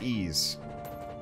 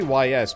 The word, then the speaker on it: Ys: It's pronounced ease. Oh. Yeah, probably. I just know if you say YS, people are gonna know what you're talking about.